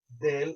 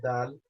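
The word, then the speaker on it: دال: Now, I want us to understand, okay, that this letter here, Del or Dal, they're both same, depending on what part of the world you come from or where you learn it from. Some pronounce as Del, some pronounce as Dal, they're both correct.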